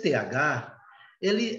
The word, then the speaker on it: the: Esse TH. Ele é um sopro, mais ou menos, com a língua entre os dentes. The.